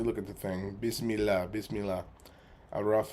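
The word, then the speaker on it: A'raf: Araf is the way to pronounce it.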